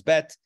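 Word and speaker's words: בּ: answer for that but typically when it has a DOT the dot makes a harsher sound okay so versus the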